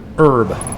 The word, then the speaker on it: herb: You would tend to say herb, H-E-R-B, or at least that's how I pronounce it, but a lot of Americans pronounce it herb, which is fine. I have no issue with this, but that's not how I would pronounce it. And it seems that the silent H is just sort of not really how the accent wants to say it, you know?